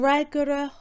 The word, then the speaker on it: fhreagra: Fhreagr is a shortened pronunciation of the word fhreagra. This happens here as a precedes hug. So it's as if the two a's ran together here.